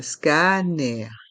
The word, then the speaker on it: scanner: Un scanner. Le mot scanner est un mot anglais, mais on le prononce à la française.